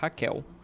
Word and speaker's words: Raquel: So it's written with L at the end, and that's exactly the pronunciation we use, Raquel, as if you're saying with an U, like this.